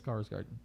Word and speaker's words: Skarsgård: Yes, Skarsgård.